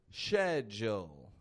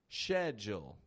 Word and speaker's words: schedule: S-C-H-E is held out as if it's like an S-H. Shh. However, the D and the U are still making that blended kind of Jill sound, followed by a dark L. Oh, Joel. In the British accent. Schedule. Schedule. Now, in all honesty, both of these are acceptable in pretty well all spoken English.